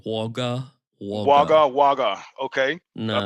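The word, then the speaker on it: Wagga: Say it like in Australian. Waga.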